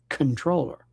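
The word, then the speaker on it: comptroller: By the way, comproller is pronounced controller.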